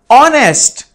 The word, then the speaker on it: honest: yes honest man here the sound of h is silent and it turns like honest so honest sounds like